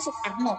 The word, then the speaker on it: Soekarno: Jadi Anda jangan heran lagi kenapa nama presiden kita yang pertama itu Soekarno, kenapa nama presiden kedua kita Soeharto, tapi dibacanya Soekarno, dibacanya Soeharto. Jangan heran lagi ya.